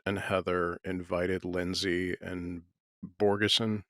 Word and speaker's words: Bogosian: Heather invited Lindsay and Borgeson, is that how you say his name? Borgosen? Bogosian, Borgosian. Peter They Bogosian, invite yeah.